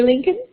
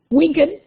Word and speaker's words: Winkin: Thank you, Mary Lincoln. Winkin. I know you told me it rhymes with Lincoln.